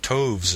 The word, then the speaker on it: toves: as in writhe and toves is pronounced so as to rhyme with Groves again the first o